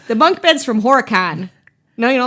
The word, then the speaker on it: Horicon: Oh, and you say it like you're not from Wisconsin. If you're from Wisconsin, you say Horacan.